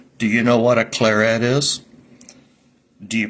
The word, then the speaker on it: Claret: a r t well I don't think it has a French sound to it I think it should be an English sound I think it should